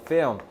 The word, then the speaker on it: film: film. 그러면 영화란 뜻이야. 그리고 발음을 필름 이렇게 안 하고 film 해서 L을 좀 드시니까 좀 발음도 연습하세요.